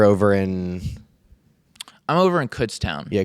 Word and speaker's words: Kutztown: was like year over in I'm over in Kutztown yeah Kutztown yeah that's how you pronounce it okay yeah so which is which